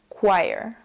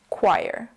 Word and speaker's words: choir: a few different reasons first of all the CH together in this case does not make a CH sound for example the word Channel makes a CH sound but not in this case CH sound together is a c c sound the second reason is that the o sound is is an A so put it all together and you get choir choir my mom sings in